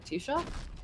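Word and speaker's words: Taoiseach: T-Shock is gay? What? Am I pronouncing that correctly? Yeah, because AOI is pronounced E, and then E is a slender vowel, so that would make the S and SH.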